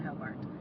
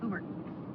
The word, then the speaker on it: Hobart: We are entering the town of It looks like Hobart, but it's not Hobart. I believe I was told it's Hbert. Hbert. Hbert, but it is spelled H O B A R T. Looks like Hbert. Hobart. Hbert. It's not Hbert. They'll look at you funny.